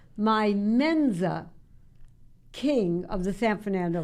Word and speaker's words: Mensa: Okay, first of all, it's Mensa. Mensa. But that's okay. Okay. It is often mispronounced.